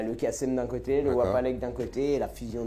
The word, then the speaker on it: Wapalek: Alors c'est Kassem Wapelek, je prononce bien? Kassem Wapalek. Wapalek. Oui, un W.